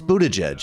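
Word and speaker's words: Buttigieg: fake affectionate and just it's Buddha judge you could figure out how to pronounce his last name right we don't play into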